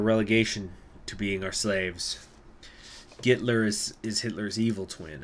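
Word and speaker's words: Гитлер: out there only silence oh it is gitler oh it's it's that's how it's pronounced in Russian interesting I didn't know that gitler huh okay what's a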